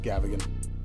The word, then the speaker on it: Gavigan: Which a lot of you have wondered how to pronounce Gavigan. Gavigan, just like that.